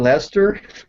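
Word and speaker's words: Leicester: in ler and he said do you mean Lester I always Mi I always mix up English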